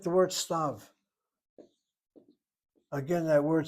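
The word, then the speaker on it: סתיו: And if I didn't know any better, I pronounce the word as stive, giving a y to the yud sound.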